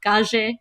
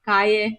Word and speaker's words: calle: So the double L in Spanish is pronounced more like a J here. So you'll hear like calle instead of calle, botella instead of botella.